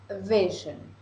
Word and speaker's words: vision: esta palabra Ya que en español la sílaba tónica está el final de la palabra en español decimos visión con acento en la o pero en inglés la sílaba tónica está al comienzo